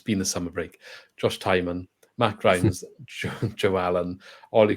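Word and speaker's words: Tymon: Fischer Josh ke Ben kabango Philip lar Josh Timone saying his name wrong again it's been the summer break Josh tyman Matt ryes Joe Allen oy Cooper ronal azim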